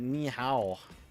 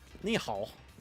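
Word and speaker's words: nǐ hǎo: You got to hit that hoe l that nihow. Wait, that's not how you say it. Nihal, that's how you say it.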